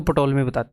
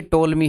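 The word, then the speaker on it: Ptolemy: मैं जब हूं आपको याद करवाने के लिए, तो देखो जरा, पहले मैं आपको पटोलमी ब्रह्मगुप्ता एक्चुअल में पटोलमी नहीं है, टोलमी है, पी साइलेंट है, जैसे साइकोलॉजी में होता है।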